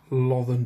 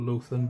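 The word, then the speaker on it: Lothern: next I'm gonna use love and blue or lutheran blue depending on your pronunciation and I'm just gonna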